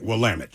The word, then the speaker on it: Willamette: Willamette. Yeah, Willamette. Rhymes with damn it. Right, Willamette.